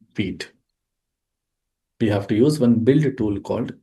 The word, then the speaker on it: Vite: How to create React application with the help of Vite tool. So, generally we write it as a v i t e, but we have to pronounce it like v e e t.